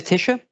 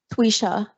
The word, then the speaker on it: Twisha: Do I need to spell that? You said Tisha. Twisha.